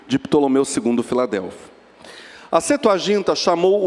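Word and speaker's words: Septuaginta: escrita é a chamada setu ginta escreve-se septu mas P mudo não é pronunciado então a setu agint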